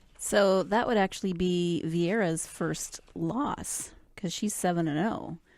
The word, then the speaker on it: Vieira: So that would actually be Vieira's first loss because she's 7-0.